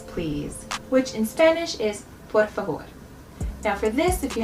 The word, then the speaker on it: por favor: So a little trick I discovered recently is if you pretend the R is a D, it'll help you get used to rolling your R's. So instead of saying por favor, instead pretend the R is a D. Por favor. Now that sounds weird and it's not exactly right.